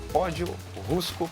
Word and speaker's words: Pódio Rusco: Prazer enorme em conhecer, que é o proprietário aqui da Pódio Rusco Pizza. Acertei a pronúncia?